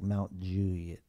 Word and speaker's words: Mount Juliet: to two stores in Mount Julie that's it Mount Juliet there's no L it's just like Mount Juliet Nate Carter asks for